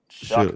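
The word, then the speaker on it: Shough: With Shook. I have heard that guy's name pronounced so many different ways. Anyways. It's spelled like show or something, but it's Shuck.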